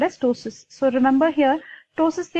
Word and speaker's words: ptosis: P is silent here, so remember it is ptosis.